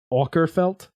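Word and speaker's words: Åkerfeldt: of Michael aarf felt please stop saying his last name like he's goddamn Scottish how do you say it ORF felt aerf felt o there's a little circle above the a in the actual name aerf felt gotcha and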